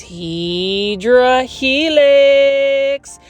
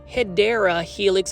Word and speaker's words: Hedera helix: Now, for those that are new to the channel, I mispronounce Hedera Helix on purpose because for some reason, plant foldies, especially Kathy from Canada, like to count how many times I say Hydra Helix.